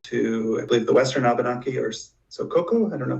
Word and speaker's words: Abenaki: I believe, the Western Abenaki or Sokoko. I don't know if I'm pronouncing the tribal name correctly. Abenaki or Abenaki, I've heard people pronounce that tribe name that way too.